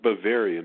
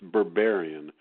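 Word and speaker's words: Berberian: It's not Bavarian. It's Barbarian. Yeah. This word that nobody knows, but it's Barbarian, like Berber. Right.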